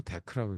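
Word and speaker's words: deque: DQ라고 읽지 않고 데크라고 읽고 그 뭐의 약재냐면 D는 더블 그다음에 엔디드 자 이거의 약재예요.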